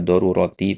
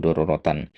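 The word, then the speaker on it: ضرورةً: Kemudian asyaddu doruratan di baris yang ketiga ini antum baca darurati tadi yang benar doratan ya. Asyaddu daruratan ya.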